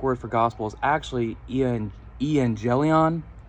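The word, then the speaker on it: εὐαγγέλιον: The Greek word is actually, and excuse my pronunciation, I'm still working on it, but the Greek word for gospel is actually evangelion.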